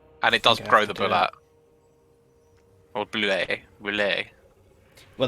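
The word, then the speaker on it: Bulette: for something like that oh apparently it's boulet oh boulet oh that's even fancier yeah it's french all right there we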